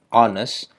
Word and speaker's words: honest: tapi hanes boy tulisannya honest pakai Hah tapi dibacanya honest And Out Boy Jadi pakai n i Pai